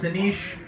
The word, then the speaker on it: Anish: nice my name is Aneesh like I said that's a ni sh pronounce Aneesh I am Indian and